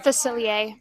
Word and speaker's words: Facilier: Facilier.